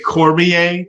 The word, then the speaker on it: Cormier: And George J. Cormier that rhymes with Bezier.